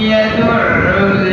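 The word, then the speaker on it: يَدُعُّ: ফাযালিকাল্লাযী, এটা হচ্ছে দাল, ফাযালিকাল্লাযী এটা হচ্ছে সা, এটা বলতে হবে ফাযালিকাল্লাযী ইয়াদউল ইয়াতীম, ইয়াদউল ইয়াতীম। দাদা আপনারা অটোমেটিক বুঝছেন এখানে একটা আইন আছে, ইয়াদউ এটা গলায় চাপ দিয়ে বলতে হবে, ইয়া জবরিয়া তালা আইফেস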